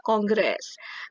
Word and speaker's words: kongres: Ya betul, tulisannya adalah kongres, tapi bacanya kongres.